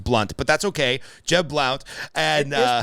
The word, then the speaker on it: Blount: but that's okay Jeb Blount and that's pronounce blunt it is pronounced blood pronounced no my last name was pronounced blunt oh I'm so excited